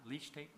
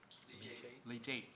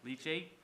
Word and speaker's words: leachate: Is this pronouncing this correctly? Leach tape? Leachate, okay. Leachate.